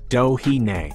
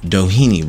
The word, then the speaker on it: Doheny: Doheny is pronounced Dohine. Doheny Road. Dohine. Or Doheny.